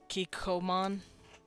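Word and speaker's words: Kikkoman: like like this word kikoman or something like that this isn't pronounced Co it's it's stops a little bit it's like K Comm they do this like weird little stop so they recognize it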